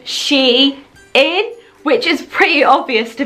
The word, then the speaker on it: SHEIN: to pronounce their name I think I was calling them Shia and I'm not quite sure so I emailed them to ask how do you pronounce their name and when I got a reply back I thought you know how stupid of me it was so obvious so you pronounce their name she is which is pretty obvious